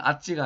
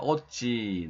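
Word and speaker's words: עזי: 하는 거죠 그다음에에 오찌 여기 여기는 아지가 아니고 오지로 발음해야 됩니다 오찌 나의 능력 배 지브라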